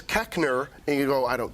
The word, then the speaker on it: Koechner: giving me the pronunciation it's the correct mispronunciation is keckner it's a German name it should be kishner but everyone looks at that name and goes I don't know like it looks like coachner you were saying cockner